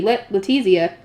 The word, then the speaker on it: Letizia: She is preparing meals for him to bring to Arensbach, a hairpin to be gifted to Lady Letizia. Apparently that's how you're supposed to pronounce it.